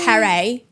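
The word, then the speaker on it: پری: And we refer to them as per which is spelled ph and then that in English is fair or like far but it's pare.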